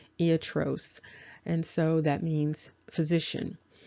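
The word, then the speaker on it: ἰατρός: and you can see that the word is pronounced iatros and so that means physician and you can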